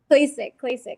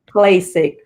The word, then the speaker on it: Klacik: Klacik, yep. Klacik.